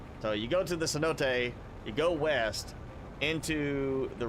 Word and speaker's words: cenote: It's actually It was like it'd be cenote. Or uh cenote, but it's actually cenote. Uh it's the way I've heard it's supposed to be pronounced.